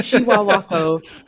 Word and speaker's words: Chihuahua: The same is happening to the Chihuahua tree in Peru. That was the tree that I saw there. I'm glad you said it because I didn't know how to say it. Yeah, Chihuahua.